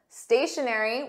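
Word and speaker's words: stationery: not moving or still stationary with the exact same pronunciation but slightly different spelling is writing materials like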